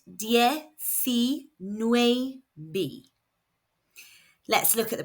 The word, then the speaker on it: diecinueve: So we know the eyes are making an e sound and the c is making a s sound. The letter U makes an oo sound in Spanish and the letter V is pronounced BB B.